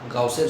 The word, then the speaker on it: Gauss: আজকে আমরা পড়ব গাউসের সূত্র বা গসের সূত্র বলে অনেক সময়, আমরা গাউস বলি, কেউ কেউ গস বলে উচ্চারণ করেন, GAUSS, গসের সূত্র।